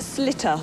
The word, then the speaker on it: Sliotar: word, by the way, is pronounced slitter.